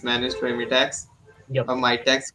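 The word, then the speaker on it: Mitacs: by me tax yeah my tax how do you pronounce that yeah it's my tax my tax oh sorry the entire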